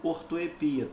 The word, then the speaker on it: ortoepia: mais específico de estudo se chama ortoépia ou ortoepia tanto faz Essa é a fonética